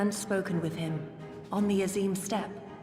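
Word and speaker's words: Azim Steppe: hien seen and spoken with him on the aim step aim step okay that's how it's pronounced boundless and merciful Ki The Young Master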